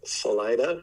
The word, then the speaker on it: Salida: It's pronounced Salida. Salida. Okay.